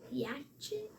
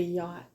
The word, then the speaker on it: yacht: That's a Yatchet? that's a yacht. That's a yacht? Yeah, that's how you spell yacht. Like we went out on the yacht on the lake. What? So all of that CH is silent? It's a silent CH, yes.